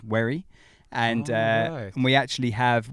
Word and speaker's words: Wherry: I've said it before on this because people get my surname wrong quite a lot because it's Wherry, but people say Wherry, and like it is quite annoying.